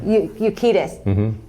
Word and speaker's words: Urquidez: Urquidez. I say that right. You said it right. Yeah. You're great. Benny Urquidez, and also thank you.